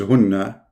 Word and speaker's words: hunna: Here there is kasra, here there is dhamma. Those two are the same word, hunna. In fact, the correct reading is hunna, not hinna.